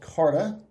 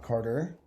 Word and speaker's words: Carta: We have a very special guest today, Carta. Did I pronounce that correctly? Yes. C-A-R-T-A, not Carter.